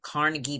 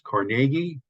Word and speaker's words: Carnegie: the mistake so uh if you're in Pittsburgh it's Carnegie uh maybe in your other places is Carnegie so um but uh in New York it's Carnegie Hall um uh I've just gotten into that habit but yes Carnegie thank you during the 1970s